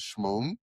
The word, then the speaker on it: Shmoon: And she was telling me the origins of your name, and your name to introduce you is Shmoon.